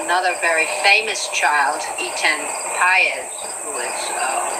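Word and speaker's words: Patz: were talking about another very famous child, Etan Paez, who is Pates, as some people pronounce it, whose parents have, as the Goshes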